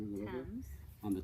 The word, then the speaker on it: Thames: beautiful, did I say the right way to pronounce the name of the river? Thames. On the Thames River right behind us here.